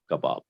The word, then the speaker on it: kabab: chelo means rice and kebab is of course kabab okay everyone together cello